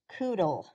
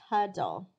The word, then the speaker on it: cuddle: You need the D here to make that U say ah. Otherwise it says its name and nobody wants to coodle.